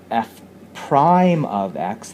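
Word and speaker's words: f′: for any x is f prime of x. That's what this little tick mark, that little tick mark here, is pronounced f prime of x.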